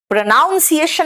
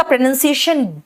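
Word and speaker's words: pronunciation: क भी होता है प्रोनाउंसिएशन नहीं बोलना इट्स प्रोनंसिएशन और उच्चारण करना वर्ब के लिए प्रोनाउंस ठीक है? डी का प्रोनंसिएशन ड लेकिन डोक बजा के जैसे हम हिंदी में बोलते हैं वैसे मत बोलना।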